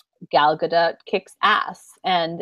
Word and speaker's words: Gal Gadot: Gal Gadot. I believe it's Gal Gadot. It's not Gadot. They say in this profile of her, that's not really how you say it.